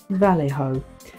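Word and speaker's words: Vallejo: that right now someone's told me how to pronounce it correctly Val ho um so that will be the next creation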